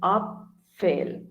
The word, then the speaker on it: Apfel: Okay, A is R, so Apfel. Apfel is apple. Okay, so Vater and Apfel.